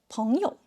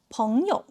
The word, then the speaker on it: 朋友: But when it is part of a 朋友, it is pronounced with a neutral tone. Repeat after me, 朋友.